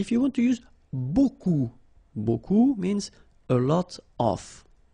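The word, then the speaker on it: beaucoup: lot of it look it looks a bit strange B like that remember you don't pronounce the final P okay and then you get this combination of vowels a u and you get the sound o so technically it's B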